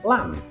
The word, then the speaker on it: lamb: B is silent when it comes after M at the end of a word.